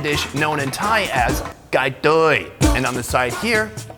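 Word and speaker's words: ไก่ทอด: This is a fried chicken dish known in Thai as gai toi. And on the side here, gai toi sot. Hey, Mark Wiens, how's my pronunciation?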